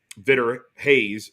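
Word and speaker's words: Vitor Reis: stating or showing um Vitter Hayes is how you pronounce his name Vitter Hayes was with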